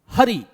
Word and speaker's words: हरि: बोल के देखिए जरा, हरि। अगर आपने यहां पे हा पे बल नहीं लगाया तो आप क्या बोलोगे?